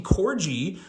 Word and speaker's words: Corgi: Corgi and everyone's like it's Corgi with a soft G I was like okay